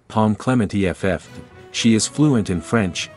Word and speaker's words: Pom Klementieff: here are some additional details Clemente's name is pronounced Palm Clement eff she is fluent in French English and Korean